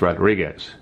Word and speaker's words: Rodriguez: light foreign Victor Rodriguez now Rodriguez has a u in it but I never pronounced the U I don't think most people do it's just Rodriguez I've never met Vic